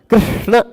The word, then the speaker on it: कृष्ण: कृष्ण कृष्ण अब इसमें कृष्ण बहुत सारे लोग कृष्ण बोल जाते हैं।